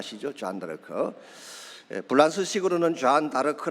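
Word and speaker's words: Jeanne d'Arc: 이 좌 한달 가 시죠 안될까요 블라우스 식으로는 잔다르크 라 그렇게 발음을 하지만 영어식으로 는 조회 n 뭐 r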